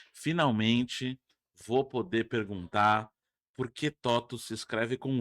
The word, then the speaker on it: TOTVS: Eu gostei do nome, falei totos com V. É porque é latim. Latim. O V é U.